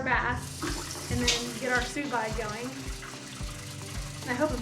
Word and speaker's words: sous vide: It looks like it's pronounced sous vide, but it looks French. If it's sous vide, sous vide, sous vide, Sous vide? Yep.